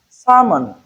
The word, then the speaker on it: salmon: Salmon. Look at the transcription. Salmon. Letter L is silent.